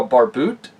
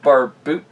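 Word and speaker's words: barbute: helmet known as the bar boot or bar boot uh wait do you pronounce it here you do not pronounce e anyway but yeah this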